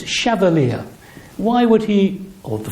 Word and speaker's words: Chevallier: get it right uh the name rhymes with Cavalier it is chavalier and not Chevalier people of a certain